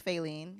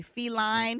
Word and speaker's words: Faylene: I was in school the teachers could not pronounce my name they would say feline feline are you here and I'm like you